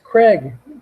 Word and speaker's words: Krieg: It's Craig. Dave Craig.